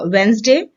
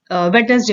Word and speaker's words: Wednesday: एक है हमारा वेंसडे, जिसको कि ज्यादातर भारतीय जो हैं वो वेडनेसडे बोलते हैं, वेडनेसडे। वेडनेसडे is incorrect. So the correct pronunciation of WEDNESDAY is Wednesday, and the second one is